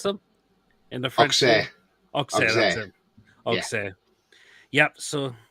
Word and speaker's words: Auxerre: We signed the slag from Auxerre, is that how you pronounce them? In the French Auxerre, that's it.